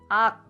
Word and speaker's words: 앆: But if it is at the Batchim, you have to block the air. Don't detach your tongue. And then you will just stay here and ak.